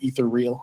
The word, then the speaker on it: Ethereal: the original name uh i pronounced it ethereal because it it seemed to me like like that's what they were going for but you know i've heard people say ether real also how did you say